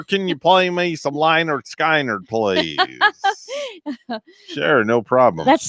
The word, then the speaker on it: Lynyrd Skynyrd: And the way it was spelled, I would pronounce it Lynyrd Skynyrd. Lynyrd Skynyrd.